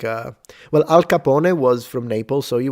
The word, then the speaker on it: Al Capone: I know that in English you say Al Capone, but he would have said Al Capone. That's the pronunciation.